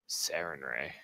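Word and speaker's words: Sarenrae: of the God again sarin red can you spell that sar en r AE Seren ray I'm not gonna lie personally I'd rather avoid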